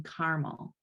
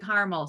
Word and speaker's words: Carmel: for the international making cities livable conference in carmel and i was told that it is not pronounced carmel i was inclined to call it carmel but but the mayor himself called it caramel so um but i think that also you